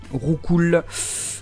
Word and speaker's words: Roucoups: Roucoul. Roucoul. Roucoups, qui se dit Roucou. J'ai été choqué, je l'ai su il n'y a pas longtemps. Voilà, Roucou. Roucarnage, c'est genre des coups, tu vois, Roucou.